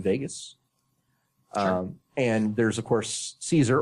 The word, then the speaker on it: Caesar: and there's of course Caesar or Kaiser as he's mentioned in the game with the original pronunciation who is a interesting